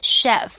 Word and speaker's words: chef: 哇，他决定要对抗这个问题，太棒了。其实我们看到的 chef，注意哦，它虽然是 CH 开头的，可是它发音是发 sh 的音，因为它是个法文字，表示厨师啦或是主厨 chef.